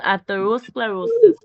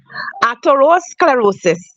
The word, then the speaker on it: atherosclerosis: cardiac and renal pause you are going to pronounce the word atherosclerosis atherosclerosis thank you was it Yes.